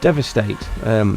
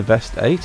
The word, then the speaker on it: Deveste Eight: Anyway, this is the Deveste Eight, not the Deveste Eight as I used to pronounce it.